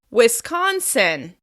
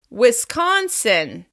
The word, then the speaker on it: Wisconsin: Moving on, Wisconsin. Wisconsin. We're going to stress the second syllable. Wisconsin. Wisconsin. Wisconsin.